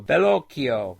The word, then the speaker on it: Bellocchio: Bolocchio. Oh, he says he pronounced his last name like Pinocchio. Bellocchio.